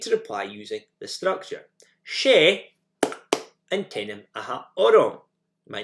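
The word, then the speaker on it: Is e an t-ainm a th' orm: She antenim aha orom. And you put the name where that clap came. She antenim aha orom.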